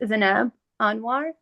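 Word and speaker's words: Zineb Anouar: Could Could you state your name and spell it for the court synographer? Uh, it's Zanab Anoir.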